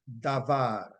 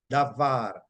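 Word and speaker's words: דבר: Da B A and it is pronounced davar davar and meaning to arrange but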